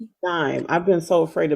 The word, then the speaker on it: Gaim: correctly tonight tonight tonight and the last name dime I've been so afraid to mispronounce it so I'm G get it down